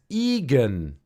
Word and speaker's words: Egan: recommend that for sure my name is Egan like vegan without a v I'm sorry did I